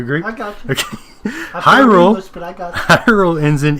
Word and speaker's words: Hyrule: One common argument against my pronunciation includes the fact that since it is nearly universally agreed upon that the word Hyrule is pronounced as such, Hyrule, that it would only make sense that the name of the people would have the same sounds as pronunciation.